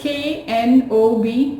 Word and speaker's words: knob: confusing word that is k-n-o-b no yes K is silent over here so we will say knob as I turned the